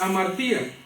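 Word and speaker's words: ἁμαρτία: hebreo se pronuncia chata o en griego que es amartía que es pecado el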